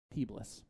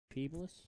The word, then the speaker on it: Peebles: Peebless, by the way, is how it's pronounced. Peebless.